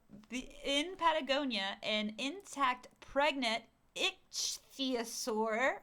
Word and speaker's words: ichthyosaur: Okay, so in Patagonia, an intact pregnant ichthyosaur, it's spelled ICHTHYOSAUR, What which is- is like ichthyosaur.